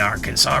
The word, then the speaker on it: Arkansas: If you're curious about present-day Etzanoa, it's located in Arkansas City, Kansas, near the Arkansas River. I really hate that after knowing I know how to pronounce Arkansas, I keep trying to say Arkansas, and it's not the right damn term.